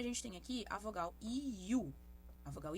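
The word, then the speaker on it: ㅠ: Nós temos aqui a vogal IU. IU. Que é a pronúncia da vogal I, mas a vogal U. E a chave é deslizar de uma para outra sem deixar nenhum intervalo entre elas.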